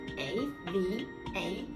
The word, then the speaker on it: Ava: And also we have A-V-A, Ava. Ava will be long A sound.